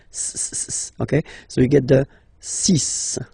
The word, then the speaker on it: six: so you get the sis pronunciation Sis Sis okay so it's not six it's sis all right then here